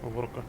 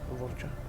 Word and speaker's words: Vorcha: Ну, как он там отстреливал ворка. Ворча, ладно. Будем говорить правильно. Ворча.